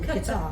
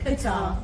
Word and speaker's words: Qatar: Because I keep calling it guitar, as in guitar. No, Qatar. Yeah, I know I was saying it wrong.